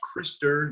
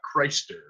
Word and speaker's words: Krister: The guy who runs Fumble's name is pronounced Krister, not Christer.